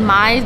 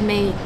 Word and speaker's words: Mae: I said Mai's, but she said it's Mae.